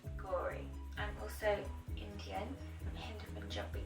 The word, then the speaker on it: Gauri: So my name is Gauri, not Gauri, not Gauri, not Gary, despite how it's spelled. Yes, I get called also. Just Gauri.